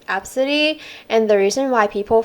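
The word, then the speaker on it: Abcde: Oh, and I found like multiple stories about people with like A B C D E spelling name, and it's actually pronounced as Absidy.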